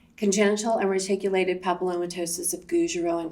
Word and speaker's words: Gougerot: Garrote? Okay, so I'll just tell you how it's pronounced. So it's basically congenital and reticulated papillomatosis of Gougerot and Carteau.